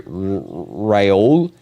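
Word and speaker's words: Raúl: Also, can you call you Raul? It's fine if you pronounce Rule, because that is common.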